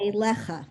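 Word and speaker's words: אֵלֶיךָ: You left off the final syllable. Elecha, right.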